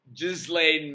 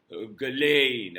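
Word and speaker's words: Ghislaine: Jeffrey Epstein where uh Jizlane Maxwell, yes, I'm going to call her Jizlain Maxwell. I'm not going to call her Galain. I'm not going to give her name the dignity of being pronounced properly.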